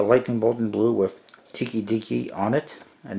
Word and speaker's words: Tokidoki: bolt in blue with Tiki Deaky on it and that's how you pronounce it tkdk and there's a little